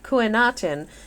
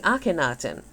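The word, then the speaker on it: Akhenaten: like deia for example the name of the heretic Pharaoh was formerly read as kutin modern Scholars prefer the reading aktin similarly userin is the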